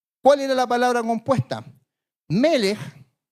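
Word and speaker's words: מלך: Melech es de rey. Melech en hebreo es rey.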